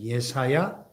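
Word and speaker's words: יְשַׁעְיָהוּ: 하나님의 말씀을 선포한 선지자입니다 이사야라는 이름은 히브리어로 옛 사야 이렇게 발음이 되는 예사야 그 뜻은 여호와는 구원이시다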